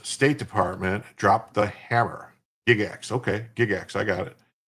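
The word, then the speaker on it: Gygax: So, we got we got the extra hour and we would go for uh it's it's pronounced Gigax, not Gigax. Okay. Gigax. I'll remember that. Not Giggax.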